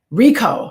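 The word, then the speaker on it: Richo: five keys to mindful loving David risho Rico Rico that's how you pronounce it and I'm on page 145 and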